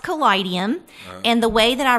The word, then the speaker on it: Kaleidium: own it is pronounced kidum and the way that I really like to talk to people about that is that it's the combination of the word kaleidoscope and Museum and for us a